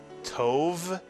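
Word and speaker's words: טוב: Tov is correct, or tov.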